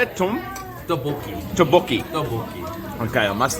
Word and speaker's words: Tteokbokki: Tteokbokki.